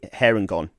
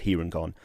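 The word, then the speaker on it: Harengon: one is a uh hair and gone uh which i assume is meant to be pronounced here and gone um which is a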